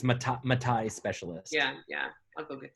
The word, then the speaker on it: Matai: So that's why I think going through the Tahiti specialist, which is, how do you pronounce it again? The Matai, is it? For Fiji, yes, it's Matai specialist.